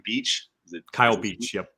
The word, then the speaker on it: Kyle Beach: Beach? Is it Kyle Beach? Yep. Kyle Beach.